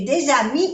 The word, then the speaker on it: des amis: Aquí se hace la liaison, la unión, porque ami empieza con una vocal. Des amis. No se pronuncia la S.